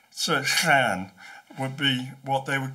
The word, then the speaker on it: llan: for an enclosure is clan. It's spelt LLAN. The double L is pronounced something like that. So clan would be what they would call it.